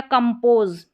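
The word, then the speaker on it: compose: ये रूल में आपने सीखा है कि S से पहले अगर स्वर रहता है तो ज़्यादातर स्पेलिंग्स में हम S को ज पढ़ते हैं, तो S को स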